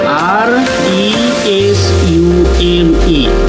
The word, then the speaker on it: resume: Once again, let me say R E S U M E. Resume. Resume. We pronounce resume. And another sound is resume. Same spelling but two meanings two sounds.